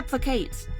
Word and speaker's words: placate: loud I think it's is it placate yeah placate it is a hard C okay placate so placatingly